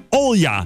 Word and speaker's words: Olga: Overigens op zijn Russisch uitgesproken als Olja.